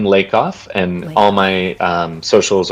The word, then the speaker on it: Lakoff: time for me yes it's lake off and all my um